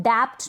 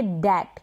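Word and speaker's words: debt: अब इसको भी हम डैप्ट नहीं, हम पढ़ेंगे डैट, क्योंकि बी यहाँ पर क्या है, साइलेंट है।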